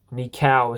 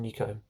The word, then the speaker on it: Nico: And if you're wondering what I'm horsing around with, it is indeed a 3D printout of my name, Nico. Nikau is supposed to be pronounced, but it's actually Nico.